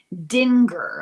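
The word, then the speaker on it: Dingir: Uh to the powerful beings that were called Dinger, I'll spell it.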